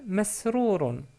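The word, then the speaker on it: مسرور: la lettre mim, donc on prononce ma avec la fatha, et on obtient, bien sûr les autres lettres sont évidentes pour vous, c'est mesrourun, mesrourun, ou mesrour tout court.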